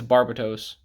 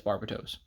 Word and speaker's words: Barbatos: And then, of course, Gundam Barbados, or Barbatos, whatever, Lupus Rex, however you want to pronounce it. I think it's Barbatos. Yeah, it's Barbatos. Lupus Rex, he's the fancy,